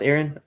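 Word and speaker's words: Arran: cask strength peated aaron i guess it's pronounced aaron malt aaron is one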